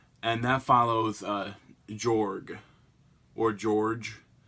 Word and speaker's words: Jorg: that follows George or George like if pronounced Jo a spell Jo RG but the officer I said that you know it's meant to be pronounced like George but he won the